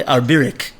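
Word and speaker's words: ארביריק: But one of them is this word that is I think you'd pronounce it probably arbirik. Arbirik. Aleph, Reish, Beis, Yud, Reish, Yud, Kuf. That's the word that Rabbi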